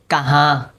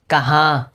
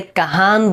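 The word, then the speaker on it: کہاں: এই নুনটা নাকে চলে যাবে উচ্চারণ করার সময়। যেমন দেখেন নুনটা উচ্চারিত হবে না। কোন শব্দের সাথে উচ্চারিত হয়েছে। কিভাবে দেখেন কাহা কাহা। এখানে কাহান বলে নাই।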